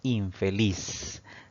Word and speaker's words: infeliz: Si dividimos esta palabra en sílabas, pues tenemos 3 sílabas. Sin embargo, la mayor fuerza de voz al pronunciar esta palabra recae en la última sílaba contando de derecha a izquierda. Entonces, esta palabra es aguda, pero no debe llevar tilde porque no termina en N, no termina en S y no termina en vocal.